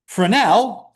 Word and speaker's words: Fresnel: This is called a Fresno function or Fresnel function depending on whether you want to pronounce the S or Frenel studied optics.